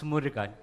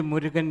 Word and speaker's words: Murugan: who know who who struggled to pronounce murica actually murugan means karthikeya okay so